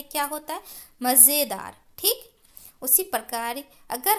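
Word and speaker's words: मज़ेदार: क्या है कि यह मजेदार है क्या है मजेदार अगर हम लोग इसको बिना नुक्ता खटपट देंगे तो इसको कैसे पकड़ेंगे मजेदार नहीं बच्चों मजेदार नहीं होता है क्या होता मजेदार ठीक उसी प्रकार इस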